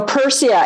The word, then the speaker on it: Pyrsia: So Persia, it's spelled Pyrsia.